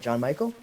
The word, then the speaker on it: Gian Michael: Now, so I'm going to say it right? Gian Michael? Yeah. Perfect.